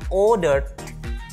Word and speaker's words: ordered: Jadi ordernya pakai d. Ordered. Dan jadi, tidak ada tambahan suku kata. Oke, tetap dibaca order, cuman ditambahin ed dikit. Langsung d bacanya. Bukan ed. Tulisannya ed, bacanya d.